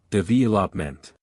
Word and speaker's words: development: The stress falls on the second syllable development.